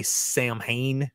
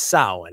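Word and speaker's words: Samhain: sa now sa you know some people say sam ha because they don't know how it's pronounced Sam ha it's sin and sin is is an Irish word that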